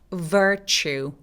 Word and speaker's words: virtue: 자, virtue, virtue. 강세는 이름절에 오기는 하는데요. 추 할 때 입술이 쭉 내밀어지는 추 소리입니다.